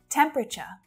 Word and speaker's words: temperature: choose a different color temperature temperature so it's not temperature temperature temperature temperature what temperature will